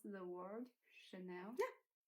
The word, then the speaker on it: Chanel: know some brand like Chanel how do you pronounce the word Chanel yeah Chanel Chanel five or something yeah yeah I think